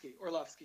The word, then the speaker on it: Orlovsky: Am I pronouncing that right? Orlovsky, yeah.